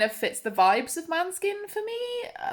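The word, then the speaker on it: Måneskin: She pronounces it Manskin, but I thought it was Mainskin, but I don't know because I don't watch Eurovision.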